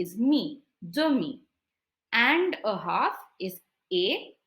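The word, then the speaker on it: demie: half the word per half in French is dummy d e is the m i e is me dummy and a half is a and this is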